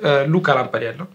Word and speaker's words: Lampariello: suis lamparel avec la prononciation italienne c'est lampaliel et je suis italien